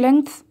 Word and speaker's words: length: الميجرنج لينث، وعلى فكرة الجي مش سايلنت، هي بتتنطق بس خفيفة شوية، بنقولها لينث.